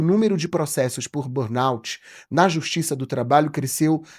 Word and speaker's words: burnout: A pronúncia burnout. Burnout, tá certo? Burnout. Cada um fala de um jeito aí, mas o correto então é burnout.